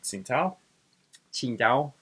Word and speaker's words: Qingdao: And during World War One of the first things that happens is Japan sieges the German colonial possession of Qingdao, is how it's supposed to be pronounced.